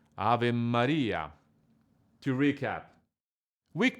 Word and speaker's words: Ave Maria: The correct pronunciation of these words is Ave Maria.